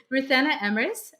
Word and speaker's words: Ruthanna Emrys: Our guest today is Ruthanna Emrys. Did I pronounce that right?